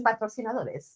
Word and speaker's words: patrocinador: You would say patrocinador.